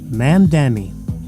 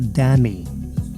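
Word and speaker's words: Mamdani: That's a three syllable name. Ma'am Danny. Ma'am Danny like Danny. Hello Danny for Dan. So this is ma'am Danny Zoran. Ma'am Danny. Remember that it's Danny. It's not Dami. It's Ma'am Danny.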